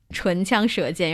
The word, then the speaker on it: 唇枪舌剑: It is pronounced 唇枪舌剑. 唇枪枪舌舌剑. 剑. So 唇 is your lips. 枪 is a spear. 舌 is 舌头 tongue. 剑 is sword. 唇枪舌剑.